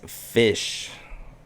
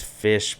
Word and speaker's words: Ghoti: said jihadi johnny jo jotty but actually it's fish how to pronounce that is fish playing with the or pointing out flaws in